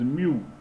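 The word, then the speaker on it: μ: But this definition, when we denote it with this symbol, which is called as mu, this is pronounced as, so it is like mu, or you can say mu, mu, right?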